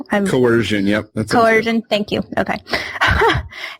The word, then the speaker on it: coercion: a lot of people shy away from is cohesion or coh if I can't even say it correctly coercion am I saying it correctly coercion yep coercion thank you okay embarrassing anyways I